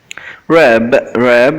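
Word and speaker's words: wrap: rab here the W is silent.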